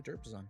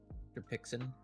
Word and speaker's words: Derpixin: You're pronouncing their name wrong too, by the way, Card. Derpixin? Yes. Oh, Derpixin. I was like, who's Derpazon? I've always heard it the first way around.